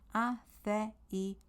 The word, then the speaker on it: aceite: So say it as you see it. Aceite, aceite.